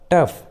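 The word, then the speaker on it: tough: जी एच रहते हैं, जब भी किसी इंग्लिश वर्ड्स के लास्ट में जी एच एक साथ रहते हैं तो जी एच का उच्चारण फ होता है, फ। जैसे रफ, कफ, टफ, इनफ, लॉफ, देखिए सभी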